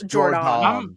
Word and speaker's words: Jordon: O-N, yeah, So it's Jordan. I'm pronouncing the O, so y'all I know think it's that I just know Jordan.